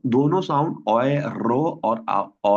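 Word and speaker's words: Euro: इसकी कहीं पे आप इसकी प्रोनाउंसिएशन सुन रहे होंगे ओय रो ओय रो ठीक है जो साउथ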